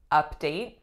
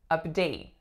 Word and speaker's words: update: rebel without a cause next one we have update update this as a noun the strongest syllable is up and the second syllable is a update I'll give you an update as soon as I hear from her as a verb it'd be update update so same exact sounds but flipped so I'm gonna